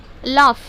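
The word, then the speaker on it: laugh: किस प्रोनाउंस हो रहा, तो यहाँ पे GH साइलेंट हो जाता। समझ में आ रहा है आपको। और यहाँ पे देखो, लाफ, LOU GH, तो F का साउंड आता है।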